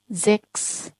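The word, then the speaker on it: sechs: ठीक है, जब ये साथ में है, तीनों साथ में है, तो इसका प्रोनाउंसिएशन रहता है खस। ठीक है, खस। तो फॉर एग्जाम्पल जेक्स। ठीक है, जेक्स।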